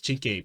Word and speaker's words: cinque: Although it's spelled out, so it doesn't say Chinke and then the letter P. It's Chinke Pi.